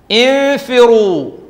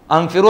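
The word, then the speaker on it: انْفِرُوا: ഇതോ ഇൻഫിറു, ഇൻഫിറു. ഇൻഷാല്ലാ നമ്മൾ ഓതാനിരിക്കുന്ന ഭാഗങ്ങളാണ് ഇതൊക്കെ. അംഫിറു അല്ല, ഉംഫിറു അല്ല, ഇൻഫിറു. എന്താ കാരണം?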